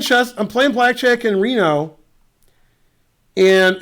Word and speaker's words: Reno: the end you're 21 Reno rhymes with casino is it GM Larry